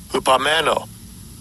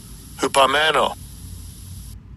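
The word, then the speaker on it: ὑπομένω: And I'll give you a pronunciation of the word. Strong's G 5278. Hupamano. Hupamano. Hupamano says to remain, to tarry behind, to remain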